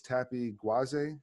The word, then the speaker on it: Tapi Gwaze: And with me today is Tappy GWAZE. Did I pronounce it?